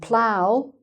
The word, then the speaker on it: plough: And finally: "bough" and "plough" is the "ow" kind of sound, "ow".